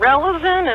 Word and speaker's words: Relizen: It's called Relazin. It's spelled Relizen, and you can just get it online.